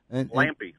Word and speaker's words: Lampy: Hey, again, we're talking to James Watson out of the Missouri area, and I know that I think it's Lampy. Is that the way you pronounce it? Yeah, Lampy.